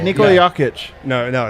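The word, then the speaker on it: Jokić: he talking about us because i know it's actually nicola nico and it's jakitch what yeah you guys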